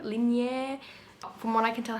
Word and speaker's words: Linjer: It's a Norwegian word, so I'm sorry if I'm butchering it, but I believe it's Liier. Lineer.